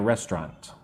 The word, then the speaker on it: restaurant: I also say with two parts, two syllables.